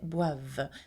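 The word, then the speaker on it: boivent: at the end okay notice that for ill and L it ends with e n t here uh and you don't pronounce it okay so you don't say B uh you say bav the same as you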